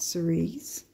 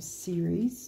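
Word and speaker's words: Ceres: on here so we've got Cerise or series depending on how you say it she's an asteroid Capricorn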